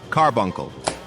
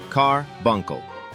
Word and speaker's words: carbuncle: Carbuncle. 3 syllables. Carbuncle.